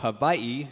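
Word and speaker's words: Hawaii: So, to my direct left, Ron Ortiz II, hailing from the northshore of Havaii, as he said I should pronounce it.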